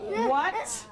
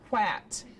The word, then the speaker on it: what: What is a tricky word because it looks like, Jake? W-A-T. It looks like it should be pronounced at, quat. But it's not, it's what.